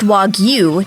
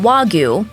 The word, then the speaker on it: Wagyu: For starters, it's pronounced Wagyu, not Wagyu, a fairly common mispronunciation.